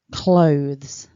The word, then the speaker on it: clothes: nice and loudly clothes clothes great work so top tip remember it's all one sound don't divide it into two syllables it's not clothes clothes so if you